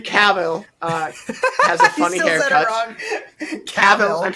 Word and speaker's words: Cavill: I know Henry Cavill is in it, and that's all I need to know.